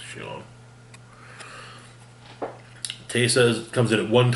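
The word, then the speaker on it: Scion: I think it's pronounced Sion.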